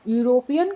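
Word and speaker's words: European: यदि हम इनका प्रोनाउंसिएशन करते हैं तो कैसे करते हैं, यू वाला होता है न कि ई वाला होता है।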